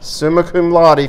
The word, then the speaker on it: summa cum laude: from Trident Technical College, and I'm going to mispronounce this one, but summa cum laude, is that right? That's right. Summa cum laude from Tech is planning to pursue a doctorate's degree in pharmacy.